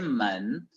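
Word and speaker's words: 门: Puerta se lee men, pero cuando se forma componente, ¿no?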